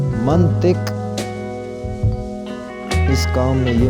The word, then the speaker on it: منطق: بولتے ہیں، رویہ، رویہ۔ منطق، توئیں کے اوپر زبر، یہ غلط تلفظ ہے، اس کو صحیح کر کے پڑھیں گے منطق، اس کام میں یہ